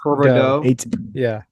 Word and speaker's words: Huberdeau: It's French. Okay. It's French Joe. people are gonna say if it ends in that IEX. It's Herberdeau. It's Huberdeau. Herberdeau.